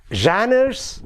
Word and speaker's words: genres: unit two the title of the unit is genres and types of academic writing don't get worried about the first word janna the spelling is g-e-n-r-e-s janus shannon's genres as it is pronounced genres